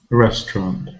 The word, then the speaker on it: restaurant: word has two syllables restaurant which one is stressed restaurant so the first syllable is stressed it's stressed it has